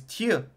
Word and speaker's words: tu: would say it was Tu Tio it's got like a y it's not a ooh it's got more of like a y vowel and when you say